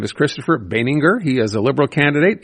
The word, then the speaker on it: Baenninger: Well, today we found out his name is Christopher Beninger. He is a liberal candidate in St. Henry St. Anne. He's on the line right now. Uh Mr. Beninger, thank you for being here today.